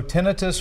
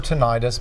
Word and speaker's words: tinnitus: So tinnitus or tinnitus, both pronunciations are actually correct.